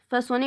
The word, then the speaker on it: façonner: Façonner, we have the C cédilla. We have the O, but because we have written the C cédilla, so we pronounce it S, façonner.